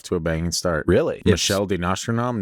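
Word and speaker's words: Michel de Nostredame: a banging start really Michelle de nostradam no sorry I didn't think that was his name Michelle oh yeah you said it right Michelle did not he just said it with a more French accent than me I just I said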